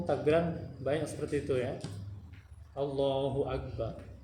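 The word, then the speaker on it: الله أكبر: Allahu Akbar. Bukan Allahu Akbar, tapi Allahu Akbar.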